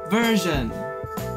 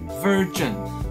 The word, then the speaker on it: version: 第一个字，噔噔，version，它是什么意思呢？版本，没错。那大家都会喜欢把它念成 virgin，那这样就会很尴尬